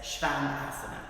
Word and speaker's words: Shvanasana: So that's a really common mistake in pronunciation, so it's Shvanasana.